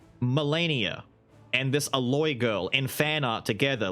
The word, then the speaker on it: Aloy: It rhymes with like a metal or a steel or some shit like that. Alloy, there you go. Aloy, whatever her name is.